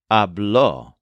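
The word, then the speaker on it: habló: pattern for ar verbs the form for I talked is a with a stress on the second syllable so this is spelled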